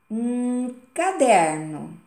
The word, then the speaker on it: caderno: Mas qual foi a forma que eu li que realmente falou caderno? O der, exatamente. Então, olha só que interessante.